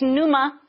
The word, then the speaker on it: pneuma: In the Greek, it's pneuma, pneuma, I think. You pronounce the P.